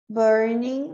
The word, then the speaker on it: burning: When it's burning, lembra que o G não pronuncia.